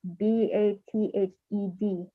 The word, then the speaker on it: bathe: How do you pronounce B-A-T-H-E-D? Yeah. It's a hard TH.